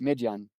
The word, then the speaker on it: Midian: And Midian in Hebrew is pronounced Midian.